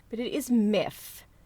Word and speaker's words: Miff: which I always get wrong, but it is Miff. M-I-F-F, Miff, the Mothman. However, considering I'm constantly getting that name wrong and like messing up my words and